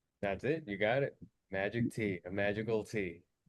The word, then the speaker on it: Magiktea: But but is it your name's and is it and is it magic T? That's it. You got it. Magic T.